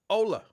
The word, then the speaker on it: Ola: DeAndre says, Ola. H is silent.